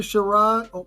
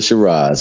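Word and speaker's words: Sheeraz: Hamza Shar, how you say his name? Hamza Shiraz.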